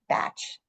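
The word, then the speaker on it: Bach: And it came from Edward Batch is how you pronounce it, but it's spelled B A C H.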